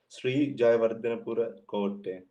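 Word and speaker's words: Sri Jayawardenepura Kotte: And it is pronounced as Sri Jayawardhanapura Kotte.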